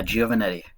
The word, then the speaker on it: Giovannetti: Welcome to the Slay Spire interview with the lead developer, Anthony Giovannetti. Did I pronounce that right? You did a pretty good job there. Yeah, Giovannetti.